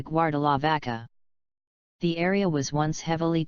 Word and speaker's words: Guardalavaca: meaning guard the ship since most people from that region lower-middle-class do not pronounce the are their way of speaking the name stuck from guarda La Barca to guar de la vaca the area was once